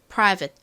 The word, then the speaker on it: private: 소리가 나지 않는데요이 끝부분에 있는이가 워낙 약한 게 발음이 되다 보니까 private private 이렇게 받침 들려요 이걸 너무 프라이버 이렇게